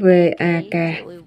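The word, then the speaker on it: वाक्: Ban đầu là Vak, ý nói chữ V-A-K mà chúng ta phát âm là Vak trong tiếng Phạn.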